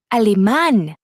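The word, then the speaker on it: alemán: Alman.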